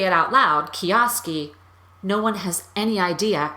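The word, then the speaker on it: Kijowski: name because when I say it out loud kiosk e no one has any idea how to spell that or write it down or put it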